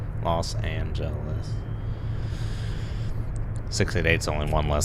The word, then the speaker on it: Los Angeles: its number maybe because Los Angeles is very long say it's like four syllables loss and gentleness 6/8 only one less